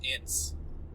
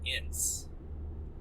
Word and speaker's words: Ince: I've always pronounced it Ince. Ince? Like inch, but with a soft s instead of Okay.